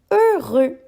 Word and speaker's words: heureux: Heureux. Ici c'est un adjectif pour dire comment se sent un garçon. Il se sent heureux. Le H muet au début et le X sont bien importants à retenir.